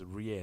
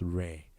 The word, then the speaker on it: rear: the rear rear right it's rear not rare okay rear all right